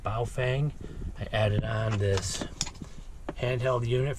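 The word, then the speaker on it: Baofeng: have two way radios believe this one is pronounced bow Fang added on this handheld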